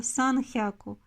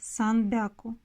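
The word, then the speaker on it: さんびゃく: Например, если 100 мы считаем как хяку, мы можем случайно ошибиться, назвав, допустим, 300 санхяку. Это будет неправильно. Оно будет считаться как санбяку.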